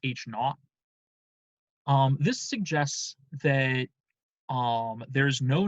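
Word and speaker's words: H₀: So, the null hypothesis, which is written H sub 0, often pronounced H naught.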